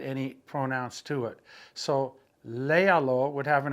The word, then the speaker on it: léalo: I would simply say léalo. As soon as you add that one pronoun to the command, you've got to go back 3 vowels and put an accent mark so that we